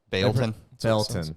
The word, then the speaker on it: Baileyton: You know how the locals pronounce Baileyton? It's spelled B-A-I-L-E-Y. They pronounce it Belton.